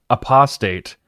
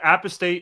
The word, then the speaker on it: apostate: I think I think it's pronounced a apostate Christopher yeah yeah just wrong that's just wrong um he he got he yeah he pointed that out during a debate that's not something you do in a in a debate but anyway yeah number one apistate is a perfectly reasonable and acceptable pronunciation of that word.